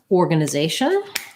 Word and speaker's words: organization: for the word organization so this is a word that differs in american english and british english in american english or gonna say we stress the same in both so in american english we have an or then we have a schwa secondary stress on that first